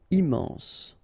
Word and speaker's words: immense: utile horrible ok remember we don't pronounce h here horrible immense final pronounce immense important not pronounced and